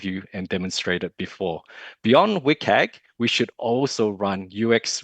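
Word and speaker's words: WCAG: It's pronounced as WIKAG.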